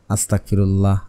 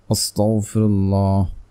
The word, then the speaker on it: আস্তাগফিরুল্লাহ: অনেকে ইস্তেগফার পড়ার সময় উচ্চারণ ভুল করে আস্তাগফিরুল্লাহ আস্তাগফিরুল্লাহ আস্তাগফিরুল্লাহ এভাবে পড়েন, তাহলে কাজে আসবে না। আপনাকে পড়তে হবে আস্তাগফিরুল্লাহ আস্তাগফিরুল্লাহ আস্তাগফিরুল্লাহ আস্তাগফিরুল্লাহ এভাবে পড়বেন। তারপরে হচ্ছে আপনারা পড়ে নেবেন